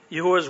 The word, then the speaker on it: Yahuwah: One, first get people to doubt Yahuwah's word. That's the way I pronounce the Yod He Vav He, the name of God, by destroying the very foundation of our Bible, Genesis, specifically the creation account.